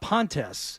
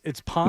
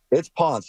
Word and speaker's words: Pontes: I wanted to make sure it's not Pontes. It's Ponce. No, it's Ponce. Yeah, I'm Portuguese. So it's one syllable, we like to swallow our words.